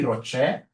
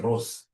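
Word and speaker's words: ROCE: easy whenever I see Rocher please don't pronounce this as Ros is my sister Ross is your mother professionally we pronounce this as Rocher whenever I see this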